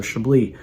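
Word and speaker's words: Chablis: could be going to Shi in burgundy which is this Northern most part spelled like shablis right but it we don't pronounce the S so shab uh whatever you're into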